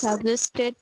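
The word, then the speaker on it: suggest: এটা হবে বর্গীয় জ, সাজেস্ট, নট সাজেস্ট। আপনি এটাকে জেড বলেছেন, মানে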